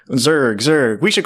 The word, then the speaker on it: Zurg: Is it Zerg or Zurgge? Zurg. Zerg. Okay.